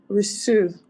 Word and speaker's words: reçu: reçu. Reçu. That's right. With the S sound because of the C cedilla.